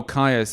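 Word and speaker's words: Kyuss: At 7, Caius. Am I pronouncing that right? Oh, Caius.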